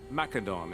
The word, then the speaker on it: Macedon: Rest assured, Macedon is the true heir to Alexander's legacy. It will rise once more. Well, alright, buddy. Alright, he's using the hard C. Macedon.